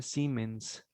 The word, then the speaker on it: siemens: mente por metro esto se escribe como siemens pero se pronuncia siemens por metro bien ok entonces tenemos